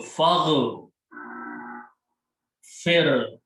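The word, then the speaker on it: فاغفر: So when you combine, you don't pronounce this alif, and it becomes Hamzatul Wasl. It is written this way, fa with the Hamzatul Wasl, and fa combines with the ghain. So fagh, fir, lana.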